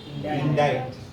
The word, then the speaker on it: indict: are very confusing because the spelling of the words do not suggest the correct pronunciation look at the first word in diet oh my goodness sir what is why indeed the correct pronunciation of this word is indict it's a bar this